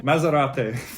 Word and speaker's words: Maserati: we've got maserati now maserati needs to be pronounced again italian maserati i'm gonna get so